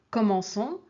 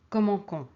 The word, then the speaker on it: commençons: Commence, commençons, commencer. Ici, pour commençons, on met un CCD pour ne pas prononcer commencons.